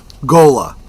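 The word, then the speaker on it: ghola: Gola Gola. That's how it's pronounced.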